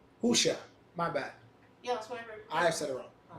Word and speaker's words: Hosea: Hosea is what I said? Yeah. My Yeah. bad. It's not. It's Husha.